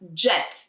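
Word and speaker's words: джет: to how it's written the J corresponds to these two letters d and j d and j so it becomes jet if you want to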